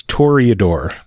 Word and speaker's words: Toreador: Doc Havoc is saying it's Toreador. Nailed it. So I was wrong.